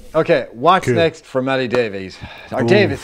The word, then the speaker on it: Davies: what's next for maddie davies davis is it davies or davis sorry davis it's spelt the welsh word davies but but i it's davis it's okay let's spell